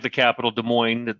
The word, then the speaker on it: Des Moines: just like the capital Des Moines that the S is silent they try to go